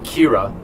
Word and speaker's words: Kira: So many criminals die of heart attacks that they get a detective after this killer, who's just named Kira, which is a Japanese pronunciation of killer.